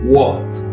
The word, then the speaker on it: what: Here, on va prononcer what. Vous prononcez comme ça le O renversé. Oh, what. Ici, c'est where.